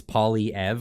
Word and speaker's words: Poilievre: It's Poilievre, like Poilievre. As long as you're not saying it with like French accents or something, then just say Poilievre.